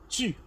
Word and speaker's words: tu: It is not tu, but it is tu. Okay, for example, if you know this English word that is stew, if you remove an s from stew, it means you are left with tu. That's the correct pronunciation of the word tu.